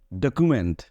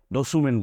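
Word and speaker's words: document: এরপরে ডকুমেন্ট ডকুমেন্ট ডকুমেন্ট সো দেখো এখানে সি এর পরে কিন্তু ইউ আছে সি এর পরে ইউ আছে ওটাকে আমরা খু বলতেছি খতেছি সি এর পরে তাহলে সি ইউ কে আমরা খু বলতেছি আমরা কিন্তু সু বলি নাই ডসুমেন্ট বলিনি ডকিউমেন্ট বলছি এরপরে দেখো সি এর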